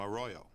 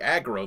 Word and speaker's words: Arroyo: stock the villagers from Arroyo so that's how you pronounce I've been saying like a grow this all the time for the project it's